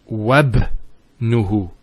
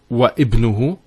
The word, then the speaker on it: wabnuhu: of what's before it, if we're actually reciting it, we don't pronounce this Hamza. We go straight to the ba. So it's wabnuhu. It's not wa ibnuhu, it's wabnuhu. It's like it joins the waw to the word ibn.